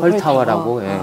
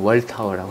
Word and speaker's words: 훨타워: 이렇게 회전한다 해서 그래서 헐타워라고. 월타워는 아니고 헐타워. 그렇습니다. 좀 더 세게 발음을 하면 헐타워라고 할 수 있고 부드럽게 발음하면 월타워라고 할 수 있고.